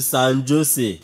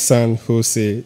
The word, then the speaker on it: San Jose: Sir, I'm going to San Jose. It's pronounced San Jose. The letter J is pronounced as H in the United States.